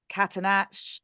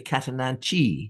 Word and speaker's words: Catananche: always sort of thought any Latin name with an or plant name with an e on it, you pronounce the e. So that's why I say Catananche Yeah, or Catananche.